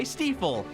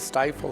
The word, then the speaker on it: Stifel: Because people can pronounce Stifel now versus Stifle or Stuffle or whatever they do.